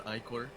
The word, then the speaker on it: ichor: love how you mispronounce the word ichor. I love how you mispronounce the word ichor. Ichor is also a way to pronounce it. Both work. I've heard it pronounced as both.